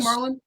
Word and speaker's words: Marlon: But yeah, is that how you pronounce his name, Marlon?